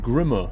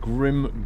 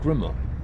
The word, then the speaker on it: Grimme: Sunny DS uh FYI it's pronounced Grimmer not Grim Grim is a real company that produced beetroots and potato Pickers and other fly machines German company Grimmer is that the P German pronunciation grimma interesting thank you Sun